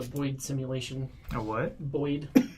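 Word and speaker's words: boid: Boyd. Boyd? Boyd. How do you spell that?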